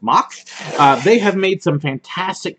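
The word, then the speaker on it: Mack: and as far as mock rides you know it's spelled Mac for those of us here in the Saints but it's pronounced mocks they have made some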